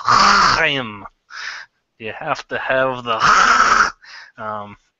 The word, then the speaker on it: Chaim: Right, and so, first of all, you were pronouncing a Jewish name, and I had to step in. It's Chaim.